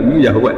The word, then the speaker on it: Yahweh: Tuhan Yahudi tunggal Yahweh napa? Ya. Nak teng ejaan Latin Y besar A H besar W E H Yahweh.